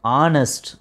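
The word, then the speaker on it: honest: ஆனால் அதில் ஹெச் அப்படிங்கிறது சைலண்ட்டு, ஆ சவுண்டு தான் வரும். ஆனஸ்ட் அப்படின்னு தான் ப்ரொனவுன்ஸ் பண்ணும்.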